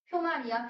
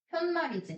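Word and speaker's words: 푯말: 단어가 맞는 걸 합성어라고 하는데 이거 두 말이 만날 때 앞말이 모음으로 끝났고 니은 소리가 덧나고 있기 때문에 우리말에서는 사이시옷을 받쳐 적었습니다.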